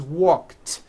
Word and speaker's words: walked: The word walk, which has an unvoiced K sound at the end, walk, becomes walked.